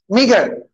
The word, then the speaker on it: meagre: MEAGRE, मीगर पढ़ते, कहना पड़ता है उसको मीगर। अजीब दिख रहा है, प्रोनाउंसिएशन